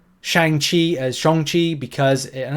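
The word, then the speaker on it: Shang-Chi: say Shang Chi as shonchi because and I don't say it with a hard o people two people seem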